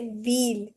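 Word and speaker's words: ville: V wheel means city or town. So we say wheel. We don't say v. We say wheel.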